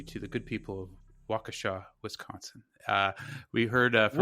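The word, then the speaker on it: Waukesha: heard from a couple yeah wkha and and maybe I'm still pronouncing it wrong and uh uh so this is what happens if you reach out to us we will respond and uh springjack in wakasa corrected me on my uh pronunciation which I believe I called wesa uh and uh we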